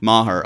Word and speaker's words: Maher: take just a quick tangent Maher okay great thank you I'm very happy that I pronounced that correctly Maher I was about